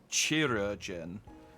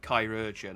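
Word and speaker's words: Chirurgeon: weird because I'm sure I pronounced it like chirogen and then yeah there was voice acting and they pronounced it Kai origin and I was like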